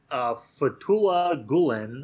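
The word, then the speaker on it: Fethullah Gülen: But Fethullah Gulen, I think that's how you're supposed to pronounce it, is an Islamic cleric of some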